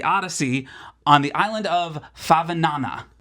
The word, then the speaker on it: Favignana: on the island of Favignana. I think that's how you pronounce it. To say it, Favignana.